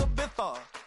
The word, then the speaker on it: Ibiza: Yeah, it's pronounced Ibiza, actually. What's the difference, man?